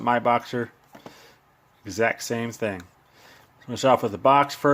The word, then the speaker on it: MiBoxer: C4 smart charger um some pronounce it Mi boxer I pronounce it my boxer exact same thing we